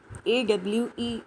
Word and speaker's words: awe: AWE, its pronunciation is awe.